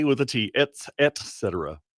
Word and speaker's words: etc.: I offered that earlier on the air, etc. Not with a K, with a tet, etc.